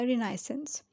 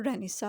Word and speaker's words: Renaissance: इसके रिएक्शन में आया रिना इसेंस रिना इसेंस और रेनिसा आप इसको कुछ भी प्रोनाउंस कर सकते हैं पीरियड ये था 1500